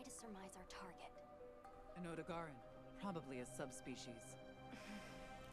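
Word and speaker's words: Odogaron: An Odogaran, probably a subspecies.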